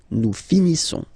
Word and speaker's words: finissons: Okay, final S not pronounced. Nous finissons.